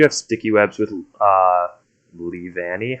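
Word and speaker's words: Leavanny: sticky webs with uh lee vanni how do you say that pokemon's name i that's how i would have said it okay i think you're good yes it's like leaves um but that's a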